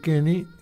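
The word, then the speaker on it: Koenig: Buenas tardes, mi nombre es Martín García entrrables y hoy les presento al querido Marcelo Kenny, apellido alemán que se escribe Coenig, profesor universitario, exdiputado nacional.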